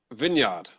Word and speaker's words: vineyard: say in two ways you can say vineyard the vineyard or vineyard vineyard so it's with a bin at the start a lot of people